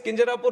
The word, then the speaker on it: Kinjarapu: And when some people say Kinjarapu, there might be some problem with them. They can't pronounce it the way I pronounce it. But that doesn't mean that I'll change my name so that it becomes easier for them.